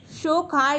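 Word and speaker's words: Tso Kar: at least सो first इस शो कर lake ठीक है टी यहां पे साइलेंट रहता है यह फ्लकचुएटिंग सॉल्ट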